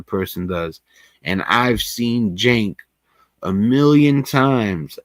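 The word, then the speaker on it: Cenk: And even Anna, and I believe you pronounce his name Jenk.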